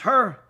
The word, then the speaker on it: Hur: Hur, that in English is is pronounced Hur, he was a tzaddik.